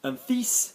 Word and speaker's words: fils: Fils, son, we're pronouncing the S, okay?